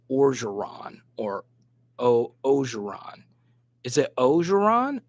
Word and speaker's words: Orgeron: So don't pronounce the N on Coach O. So Orgeron. So it's Orgeron. And Orgeron.